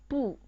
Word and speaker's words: 不: It's when 不 is followed by a syllable in the fourth tone, it changes into the second tone.